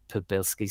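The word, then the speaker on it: Przybylski: But I think the pronunciation is Podbilsky's star.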